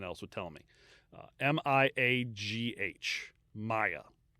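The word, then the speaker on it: Miagh: of his prisoners, Thomas Maya. At least that's how ChatGPT told me how to pronounce it, because I had to ask it because nothing else would tell me. M-I-A-G-H. Maya. It's an Irish name.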